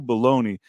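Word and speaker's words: Belloni: Matthew baloney his name it's not spelled like baloney like the way you think but when you read it out that's what it is his name is Matthew baloney and he is baloney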